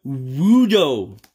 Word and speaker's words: Sudowoodo: Sudowoodo. Sudowoodo. That's how it's pronounced.